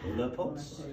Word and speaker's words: Leupolz: Leupolz.